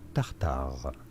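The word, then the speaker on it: tartare: Anyhow, how do you say it for reference in French? In France, it is said as steak tartar.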